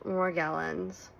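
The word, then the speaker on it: Morgellons: It's actually pronounced morgllins.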